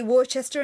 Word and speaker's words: Worcester: Would it be Worcester in American? It's Worcester in English. No. Like the sauce.